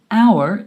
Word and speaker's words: hour: Because the H at the beginning of the word hour is silent.